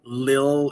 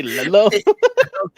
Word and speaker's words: Lilo: Why you say it like that? Lilo. You say Lilo. It's Lilo, bro. You just say Lilo.